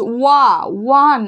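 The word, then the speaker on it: one: এ কেন বসলো এর আগে, কারণ এটার উচ্চারণটা কি হচ্ছে, সাউন্ডটা কি হচ্ছে, ওয়ান, আমরা কি বলি ওয়া, ডাব্লুর উচ্চারণ আসছে, তাই তো দ্যাটস ওয়াই উই ইউজ কি না, এ।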